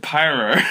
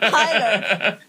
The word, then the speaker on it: pilar: Because you said pyro. No, I said pilar.